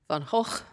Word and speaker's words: Van Gogh: Also, he thinks it's too hard to pronounce. And it is. How do you say it? Van Hawk.